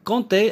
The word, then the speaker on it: compter: le verbe comptait alors compter avec ses oems ptr d'abord on ne prononce pas le p on compte donc on